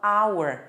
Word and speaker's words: hour: Mas na hora que você pronuncia, esse H é completamente mudo, ele não está presente na pronúncia. Você fala hour, você nem lembra que existe esse H quando você pronuncia.